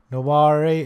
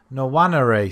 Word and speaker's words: Nwaneri: Nawari as well. £155 million for this guy. Ethan Nwaneri, sorry. I do apologise for pronouncing it wrong.